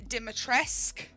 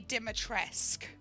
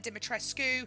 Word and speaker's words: Dimitrescu: at work so i know romanian names um di matresque is actually how it's pronounced so big tall big boob lady is lady dimitressk that is how dimitresque is pronounced a lot of people are saying dimitrescu i've i've been saying dimatrescu because that's what